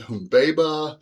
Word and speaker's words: Humbaba: It says all those middle vowels, which are generally soft vowels, should be long vowels, and so he's pronounced it Humbaba and Enkidu, and I guess it would be Shamat.